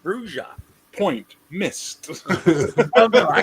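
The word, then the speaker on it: Brujah: It says clearly in the first edition book, under the pronunciation, it's pronounced Bruja.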